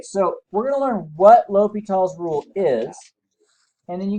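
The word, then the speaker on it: L'Hôpital: he actually does fellas name like hospital but you pronounce it l'hopital's just say what l'hopital's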